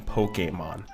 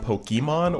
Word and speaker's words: Pokémon: explain that I'm going to be using the pronunciation Pokemon uh that is because of the accent that's